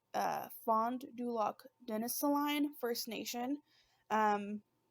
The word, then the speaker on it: Fond du Lac: me one second okay i guess it's pronounced exactly how it looks but uh fond du lac denis line first nation